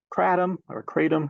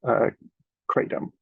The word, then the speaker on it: kratom: I think just because we're Americans and we say we'll have things however we want, but the actual pronunciation is more like Kratom.